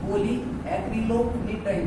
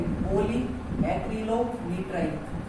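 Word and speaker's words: polyacrylonitrile: क्या है, दोबारा से प्रोनाउंसिएशन हमारा क्या है, पॉली एक्रिलो निट्राइल, पॉली एक्रिलो निट्राइल।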